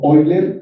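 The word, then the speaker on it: Euler: honor al matemático jon ander de su apellido oyler que se escribe y se escribe dv pero se pronuncia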